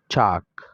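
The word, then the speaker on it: chalk: لکه چاک چاک په چاک کې ال نه تلفظ کیږي، چالک نه ویل کیږي.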